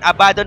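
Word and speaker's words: Abaddon: Pinas pero mga kaibigan si abadon abadon po yung tamang pronunciation ayon sa pakikinig ko kini-click ko si ab oh hindi siya Abad don kasi sa tayo abadon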